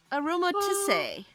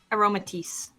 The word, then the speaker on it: Aromatisse: Aromatisse. Aromatisse.